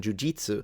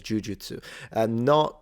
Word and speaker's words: jujutsu: arts, whether it be jujutsu, which you still practice. I know that in the West, sometimes the pronunciation jujitsu is more common, but in Japan, everyone says jujutsu.